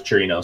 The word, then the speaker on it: Chirinos: so I don't know I thought was Chirinos since it's Spanish the eyes pronounced like our E oh that's a good